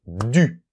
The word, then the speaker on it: du: después Lu pues hacemos du Okay Cuidado con la pronunciación u u u Okay haces la boca como una O y al mismo tiempo pronuncias una I Okay du DU Okay Vale pues ya